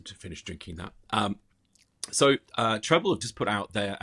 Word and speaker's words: Treblle: said it was Treblle, which It is Treblle. I shouldn't make fun of the name, but it's so hard. I don't know how to say it. I've noticed that in the notes, it doesn't like the way that it's spelt. Sorry, Treblle. It's 2 L's, 1 B. For those that need to know, or those that need to put it into Google.